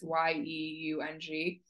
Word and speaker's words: Yeung: I don't know how to say his last name, but I say Young, but it's Yeung.